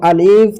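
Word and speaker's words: ا: এটা হচ্ছে আলিফ। আলিফটিকে আমাদেরকে তাড়াতাড়ি পড়তে হবে। কিভাবে? আলিফ। আলিফ।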